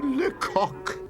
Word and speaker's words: LeCoq: Uhh he insists on being called Monsieur LeCock! I think Monsieur LeCoq (French pronunciation) is nicer!